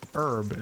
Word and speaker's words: herb: The H is not silent in this game, which is why I go with that pronunciation.